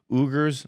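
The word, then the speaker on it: Uyghur: wasn't happening to the i think it's pronounced oogers i'm not sure um u-g-h-u-r i think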